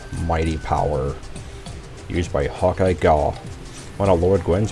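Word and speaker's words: Gough: Now ironically, despite his name being like Vincent van Gogh, the actual character does in fact pronounce his name Gaw. So it's not a mispronunciation on my part.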